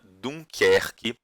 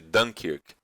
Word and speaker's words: Dunkerque: numa região litorânea chamada Dunkerque. Tá? Em francês se pronuncia muito parecido com isso, em inglês eles chamam de Dunkirk.